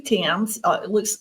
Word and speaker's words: Thames: My name is Thames. It's pronounced like the Thames River in England. A lot of people mess it up and call it Thames, but I don't really care.